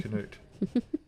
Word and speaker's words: Cnut: that folks it's it's named after the Viking king of England King Cano who tried to turn back the tide and couldn't but it's spelled cnut which is how you spell it just for effect